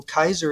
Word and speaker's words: Caesar: had Kaiser Willam well Kaiser is the proper Latin pronunciation of Caesar he did that's some